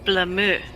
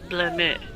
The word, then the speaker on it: Blameux: It's Blameux. Blah blah. Because it's French, you gotta speak nasally. Blameux.